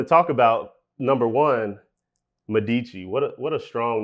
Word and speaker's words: Medici: I wanted to talk about number one, Medici. What a strong name. I had to ask you that before we got on. I said, how do you pronounce that? So it's actually Medici. Medici.